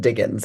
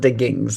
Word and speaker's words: Diggins: and they all pronounce it Diggins. It's not Diggings. There's an apostrophe there in the proper name.